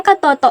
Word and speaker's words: katoto: kaugnayan sa isang tao ang tamang pagbigkas ng salitang katoto ay ka to to Ang unang pantig ay bigkas na ka na may malambot na tunog na a at ang ikalawang pantig ay bigkas na to na may malambot na tunog na o at ang ikatlong pantig